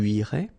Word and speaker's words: irais: Tu irais. Same thing here, final S not pronounced. Tu irais.